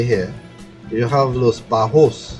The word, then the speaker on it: Los Bajos: Okay, so moving down to the south, past La Brea, or La Brea, as we say here, you have Los Bajos. Correct. Perfect pronunciation.